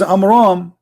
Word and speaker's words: Amram: So the correct name is Amram.